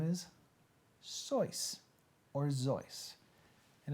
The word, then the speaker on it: Seuss: and you shouldn't rejoice if you're calling him Seuss he pronounces it sois or his voice so when